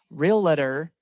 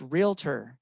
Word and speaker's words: Realtor: two three thank you it's not three syllables real letter it's realtor two syllables you feel me okay